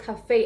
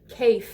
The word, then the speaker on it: café: So cafe has an accent on the E as well. That's why it's called cafe and not cafe or calf, Anyways, another word I